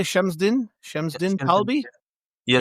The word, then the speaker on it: Chemsdine: But today we are here to talk about did you say Chemsdine? Chemsdine Talbi? Yes. Chemsdine. I will get used to that. Again, my listeners know that I cannot pronounce anything correctly, so it'll probably take 2